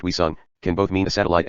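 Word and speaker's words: 위성: Asterisk in Korean, the term, pronounced Wisung, can both mean a satellite and a moon, or anything that really floats around a planet.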